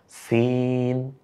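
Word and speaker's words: سين: এখন প্রথম হরফটার নাম হলো সিন। আমার সাথে বলেন সিন। সাইকেলের পাম্প ছেড়ে দিলে এভাবে একটা আওয়াজ হয়, ঠিক ওইভাবে।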